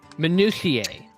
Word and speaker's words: minutiae: I am pulling this word up, and I'm I'm pretty sure it's minutia. Ask Google to pronounce it. Hey, ask Fuwamoko to pronounce it. Bow bow. Minutiae.